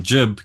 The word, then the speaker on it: GIB: Uh I we are called jibto stoppers in New Zealand.